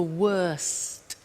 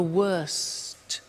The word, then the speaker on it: worst: the superlative is the worst notice the T bad worse the worst don't forget to pronounce the T and then far the